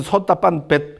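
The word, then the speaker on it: sotāpanna: 자, 예류도는 마음, 자, 예류라는 말은 솥다 빤나를 옮긴 겁니다. 솥다 빤나. 그래서 솥다 빤, 맨 뒤에 아 발음은 안 합니다. 지금 힌디가 그렇습니다. 그러니까 이거는 솥다 빤이겠죠.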